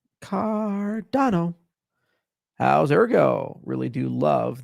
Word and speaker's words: Cardano: Yes, what's the correct way to pronounce Cardano? Cardano. Cardano.